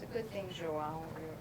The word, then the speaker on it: João: It's a good thing Joao rhymes with cidadão.